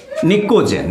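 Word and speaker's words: pnictogen: P silent होता है, निक्टोजेन, निकोजेन, निकोजेन, निकोजेन भी लिखिएगा तो चलेगा काम।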